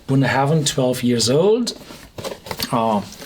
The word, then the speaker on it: Bunnahabhain: we have a well a weird spelling and pronounce whiskey it's the buah Haven bun Haven 12 years old uh